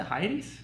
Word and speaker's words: Hyades: How do you pronounce it? Hyades? Hyades.